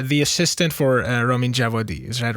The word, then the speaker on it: Djawadi: but it's javed so it's like a silent d and a german w it's very confusing uh yes one thing